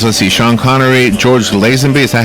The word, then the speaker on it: Lazenby: That includes, let's see, Sean Connery, George Lazenby, is that how you say his name? Yes. George Lazenby.